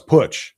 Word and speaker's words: Putsch: He said, no, it's Putsch, like put your money where your mouth. Okay. Sorry about that, Casey. Meant no disrespect at all. But I interviewed Casey Putsch, who wants to be